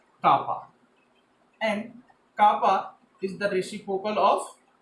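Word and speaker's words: κ: Next one is conductivity or a specific conductance, which is written as K and is pronounced as kappa.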